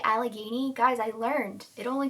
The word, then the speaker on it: Allegheny: Did you hear me say Allegheny?